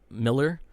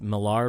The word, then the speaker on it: Millar: Alfred Goh and Miles Miller. Which I used to believe his name was pronounced Millar because it's spelled just like Millar, but I found out that's actually Miller.